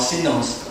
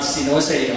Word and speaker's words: Sinos: So to pronounce it correctly, it's called Sinos, okay? Not Sinose or Sinos or whatever.